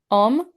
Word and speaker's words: Om: American South, the long O is sometimes pronounced as a dip diplog, like two vowels jammed together, either like I, Oo, or eo. This is not cor this is not the correct manner of pronouncing the O, which should be a single pure vowel sound.